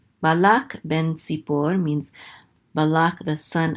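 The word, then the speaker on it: בן: closes out that syllable, so this is ben.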